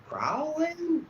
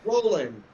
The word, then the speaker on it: Rowland: Yeah, because it's spelled R-O-W-L-E-D. Like, people will be like, Rowland? No, dumbass, Roland Jr.